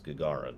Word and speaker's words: Gagarin: excuse me station commander i've heard so many different ways to pronounce it but the way i i looked it up it was gagarin so i'm gonna say